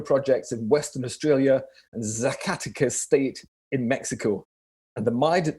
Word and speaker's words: Zacatecas: Zacatecas is how I pronounce it. I suspect most locals would cringe, but Zacatecas normally is how it's probably a bit closer than me anyway.